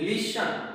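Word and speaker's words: listen: अब हम एक इतना बड़ा लिस्ट इसकी बात करते हैं तो वहां पर लिस्ट का में जो टी है उसका प्रोनाउंसिएशन होता है, लेकिन जब EN जुड़ के लिसन यानी सुनना जब बनता है तो यहाँ पे टी साइलेंट रहता है।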